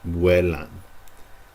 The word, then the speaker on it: vuelan: That U is there to be pronounced. Vuelan.